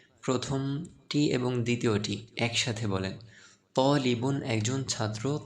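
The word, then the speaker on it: طالبٌ: চলেন আমি উচ্চারণ বলে দিচ্ছি, আমার সাথে সাথে বলেন তলিবুন একজন ছাত্র, তলিবুন একজন ছাত্র।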